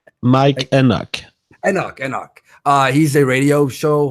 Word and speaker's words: Enoch: Sorry, I can't pronounce his last name. Mike Eknock. Mike Enoch.